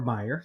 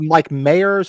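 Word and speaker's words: Meijer: based out of Michigan did they call it Mike Mayers or they call it Myers it's Meyer it's Meyer no joke it's Meyer with a J picked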